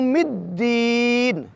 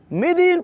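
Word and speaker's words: الدين: फत के साथ पढ़ेंगे मिी की दाल प चकि शद है इसलिए हम इसको शिद्दत के साथ पढ़ेंगे और यूं नहीं पढ़ स मालिक य मदीन मदीन पढ़ना गलत शुमार होगा जबकि मि दीन की दाल के शद के साथ पढ़ना मुनासिब और दुरुस्त शुमार होगा और दी की दया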